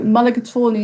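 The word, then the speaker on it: mulligatawny: owl or a type of soup um so mulligator is spelt m u l l i g a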